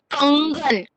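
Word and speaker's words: कंगन: So I'm pronouncing kangan, anga. The sound I'm giving for this is anga because the next letter is ga,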